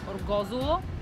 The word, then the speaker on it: Orgosolo: I arrived at the village which, by the way, is pronounced Orgosolo, not how I thought but that is irrelevant.